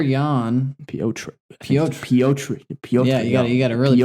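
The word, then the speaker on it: Petr: Peter Yan. Piotr. Yeah, you got to really pronounce it.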